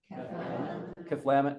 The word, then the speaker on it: Cathlamet: Cathlamet. Yeah, kind of a emphasis on the second syllable.